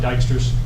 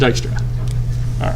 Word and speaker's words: Dijkstra: Then why is that J there? Oh, anyway. I think, well, it's just the way it's pronounced. Sure. No, it's And I don't make up the English. actually that's not English. It's That's Dutch. Netherlands. It's actually Dutch.